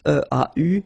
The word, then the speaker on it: eau: And then when you combine these two, these three vowels E, A, U, you get the sound O. Only O. Okay?